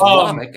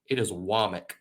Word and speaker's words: Womack: It's Womack, and when he got hired at South, and I had to say his name all the time because I was in Mobile.